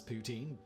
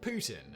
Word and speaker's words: poutine: While most people of the English world pronounce poutine, that's not how you pronounce it in French. In French, it's pronounced closer to Putin, and that is also how you pronounce Vladimir Putin's name in French.